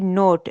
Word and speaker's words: knot: KNOT नोट, अब यहाँ पे साइलेंट वर्ड स्टार्ट हो गए, ये देखिए नोट। अब हम के लेटर को नहीं पढ़े लेकिन के लेटर है, तो इसे नोट यानी गिरा बांधना, ठीक है।